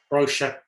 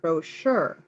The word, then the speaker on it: brochure: emphasize the first syllable brochure okay that's the difference because I emphasize the second brochure because that's the French pronunciation yeah yeah brochure yeah